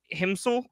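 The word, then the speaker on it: Himsl: someone called uh Florian himsel I think that's how you say it it's it's h i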